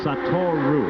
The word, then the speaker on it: Satoru: I must pronounce that properly. Satoru. I keep putting the O at the end, and I know that's not right.